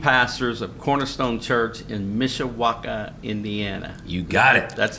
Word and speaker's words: Mishawaka: We have in the house today Matt and Leah Poorman, lead pastors of Cornerstone Church in Mishawaka, Indiana.